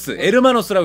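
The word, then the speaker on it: Hermanos: 에르마노스라고 읽어야 된다 그랬어.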